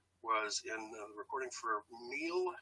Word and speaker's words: Miel: in the recording for Miel, I think is how it's pronounced, M-I-E-L. Miel, yeah. So, Miel, okay, all right.